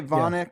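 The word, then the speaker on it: Voynich: just I'm stupid the voyich manuscripts oh yeah are you familiar some people say vonic but yeah absolutely vonic okay got it see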